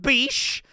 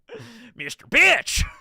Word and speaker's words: Mr. Bitch: That's how it's spelled and pronounced. Not Bish, not Bick. Mr. Bitch.